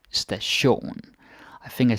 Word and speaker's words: station: Billet station like so pronunciation wise do pay attention so you don't say station like like station no no stay shown I think I said